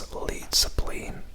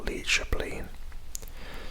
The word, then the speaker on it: Leidseplein: Now, here is an area known as Leidseplein, or Leidseplein, to pronounce it in the Dutch way, I believe.